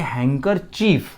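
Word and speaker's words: handkerchief: और वो लफ्ज़ दिया हुआ है प्यारे दोस्तों, अगर आप गौर से पढ़ो तो हैंकर चीफ, डी वहाँ पर साइलेंट है तो हम उसको पढ़ेंगे हैंकर चीफ।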